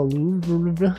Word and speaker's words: Louvre: Plural of the Louvre. How do you even pronounce that?